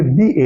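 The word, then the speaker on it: the: पे इसको क्या पढ़ेंगे, दी एलिफेंट। क्यों? वॉवेल से पहले जब भी द का प्रयोग होता है उसे हम द नहीं पढ़ते, उसे हम दी का उच्चारण करते हैं।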